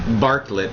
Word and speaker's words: Bartlet: week is set impressive Bartlet how do you say your last name it's Bartlet Bartlet like the pair oh yeah that's helpful